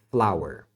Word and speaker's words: flour: adding flower farinha a a farinha de trigo se chama flower é a mesma pronúncia de flower de flor Ok então fique esperto